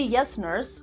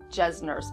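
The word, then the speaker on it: Jessner: TCA peel and the yes nurse or jazz nurse peel either pronunciation is correct nowadays since these acids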